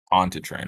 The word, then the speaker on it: Pontchartrain: Pontchartrain.